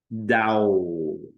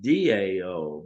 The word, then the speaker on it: Tao: the dance of the Dow Dow pronounced Dao but spelled Tao means the way the